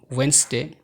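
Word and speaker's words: Wednesday: এই শব্দগুলোর ডি সবসময় সাইলেন্ট থাকে, যেমন ওয়েনসডে, handkerchief, handsome, ma'am, age, has, badge, wedge.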